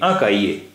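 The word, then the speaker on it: cahier: अ काइए एक नोटबुक देखि यहां भी हमेशा साइलेंट रहता है इसलिए काए काइए एक नोटबुक यन गम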